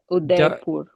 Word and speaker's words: Udaipur: It's not Uh, D, it's the Udaipur. Dharmendra, am I pronouncing your name Yes.